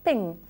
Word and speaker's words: PNG: portable Graphics Network specification the file extension is PNG but it's pronounced ping the new format is